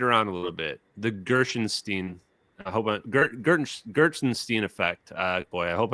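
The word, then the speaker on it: Gertsenshtein: The Gershenstein, Gershenstein effect. Boy, I hope I'm saying this correctly. Gertzenstein. You know how hard it is to spell that?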